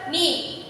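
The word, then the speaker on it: knee: For example, ni, k is silent.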